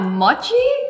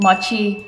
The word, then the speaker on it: mochi: When I go to America, all my LA friends called mochi mochi, but it's actually mochi. Because in Japanese, O is an O sound, not an O sound. That's an English pronunciation.